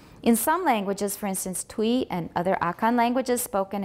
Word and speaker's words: Twi: Recall the pronunciation of y in French words such as vit, then try to pronounce the name of one of the dialects of Akan. All right, twi we've been saying, but actually it looks like it should be twi.